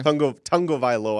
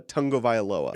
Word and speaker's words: Tagovailoa: Tagovailoa, I think is how you properly pronounce it.